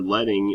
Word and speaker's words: leading: do is talk about kerning leading or letting is what the proper way to say it is tracking and fonts